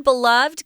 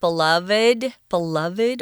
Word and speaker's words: beloved: This word beloved can also be pronounced beloved or beloved.